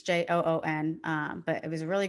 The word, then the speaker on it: Joon: I hope I'm pronouncing his name right. It's Joon.